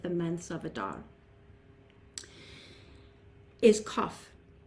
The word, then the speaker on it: qof: months of Adar is kough it's spelled qof or KU UF and it's the Q like our Q for Queen but it's more of a k sound like C for king and the pictograph the